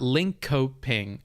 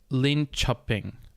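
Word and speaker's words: Linköping: linchping and i've learned it's not link coping i don't even know if i'm pronouncing it right right now but i know i'm closer i believe it's lin chopping like because and this is another thing i learned this coping uh kind of pronunciation or whatever that actually means shopping and it's pronounced closer to cha than it is ka so linchping means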